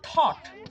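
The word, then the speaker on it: thought: দিয়ে ওয়ার্ডগুলোর এক্সাম্পল দেখি থট টি এইচ ও ইউ জি এইচ টি এখানে জি এইচ টা কিন্তু সাইলেন্ট থাকছে আবার বট বি ও ইউ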